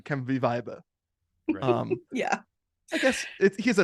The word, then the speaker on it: Weibe: last name which is spelled w-e-i-b-e of course we pronounced it viba of course z v